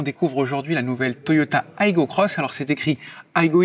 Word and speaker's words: Aygo X: aujourd'hui la nouvelle toyota aygo crosse alors c'est écrit aigo x sur la carrosserie mais ça se prononce à l'anglais car ce sera tout simplement la petite soeur de la toyota yaris cross cette nouvelle génération